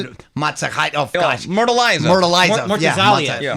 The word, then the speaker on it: Murtazaliev: Oh, How do you pronounce it? Matsakite. Oh, gosh. Murtaliza. Murtaliza. Yeah. Murtazaliev, Yes.